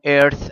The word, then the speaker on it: Earth: كوكبنا اللي هو اسمه ايرث الارض اخلي بالي هنا من التي اتش اتش اتش بتنطق شبه الساء في اللغه العربيه ايرث يبقى ادي مجموعه البلانت